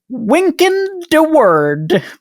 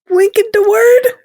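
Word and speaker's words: Wynkyn de Worde: But it was published by, I kid you not, a man named Wynkin de Worde. Wynkin de Worde? Spelled with Y's.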